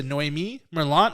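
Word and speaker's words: Noémie Merlant: to Noemi Merlot I'm I apologize uh if I'm pronouncing your name wrong I have no idea I'm trying that's exactly right I called her while you started and she said that's exactly how you pronounce it good job that's a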